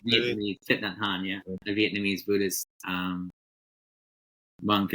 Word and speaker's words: Thich Nhat Hanh: I don't remember the name of it, but it was by Thich Nhat Hanh. I'm probably mispronouncing that too. Thich Nhat Hanh, maybe? Thich Nhat Hanh, yeah, a Vietnamese Buddhist monk and author, and